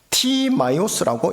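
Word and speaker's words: Τιμαῖος: 바디메오의 아버지 이름인 디메오는 우리나라 발음상 디메오라고 읽고 표기를 하는데요, 이게 원어 발음으로 하면 티마이오스입니다. 티마이오스라고 읽고 표기를 해요.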